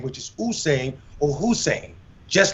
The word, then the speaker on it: Usain: Looks like Usain, correct pronunciation is two O's, like I said, Usain or Hussein.